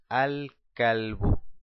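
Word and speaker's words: الكلب: Abajo decimos kalbun, más el artículo alef lam, decimos al-kalbu, al-kalb. Puedo pronunciar el alef y el lam. Y al final le dejo una sola dhamma, ya que es una palabra determinada, el perro.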